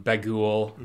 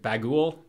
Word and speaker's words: Bughuul: i feel that um bagul i don't know how is it bagool apostrophe that's not how it's spelled but it's spelt b-a-g-h-u-u-l uh yeah and he's